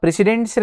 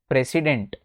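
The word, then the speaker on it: precedents: अब प्रेसिडेंट से रिलेटेड कुछ डॉक्ट्राइन्स हैं, है ना। एक तो एक इसका प्रोनाउंसिएशन सीख जाओ, इट्स नॉट प्रेसिडेंट, है ना, इट्स प्रेसिडेंट, प्रीसेडेंट्स, प्रीसेडेंट्स।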